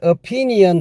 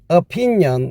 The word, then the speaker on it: opinion: 발음할 때 op니언 하지 마시고 opinion 이렇게 해야 됩니다.